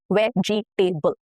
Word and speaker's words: vegetable: So it has about 2 to 3 syllables and not 4. Okay. Vegetable, not vegetable. No. Vegetable. Okay. 3 syllables.